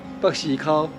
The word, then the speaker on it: 北絲鬮: "Beisikau" is the pronunciation of Hokkien.